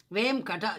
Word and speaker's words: Venkata: Vain means sins and kata means cut into pieces. That is kata. Vem kata. The syllables, 2 syllables it is.